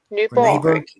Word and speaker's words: Nyborg: I think it's Nyberg. Is it Nyberg? Nyborg. The Danish one. Yeah, Nyborg. Nyborg.